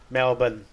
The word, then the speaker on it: Melbourne: But when it's like Melbourne, it's actually Melbourne.